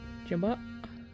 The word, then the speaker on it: jabot: Jabot?